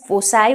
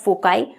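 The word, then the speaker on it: foci: अब फोकस का जो प्लूरल है दैट इज फोसाई और फोकाई, however you pronounce it, ठीक है।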